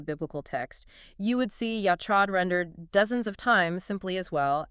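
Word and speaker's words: יחד: Okay, so the word is yachad. Right. Or sometimes you'll hear it pronounced with that guttural back-of-the-throat catch like yakhad.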